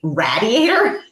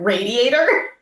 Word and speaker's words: radiator: an incorrect pronunciation, but we say radiator instead of radiator.